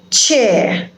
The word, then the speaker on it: chair: you will see that the last letter r is not pronounced in these type of words you don't say chair or fair or share but you have to say chair as in words